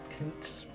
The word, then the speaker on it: Koontz: Koontz. I have difficulty pronouncing TZ combo like that.